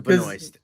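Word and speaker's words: Benoist: There's actually an S in there before the T.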